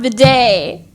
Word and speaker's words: bidet: But I realized it was French and pronounced bidet.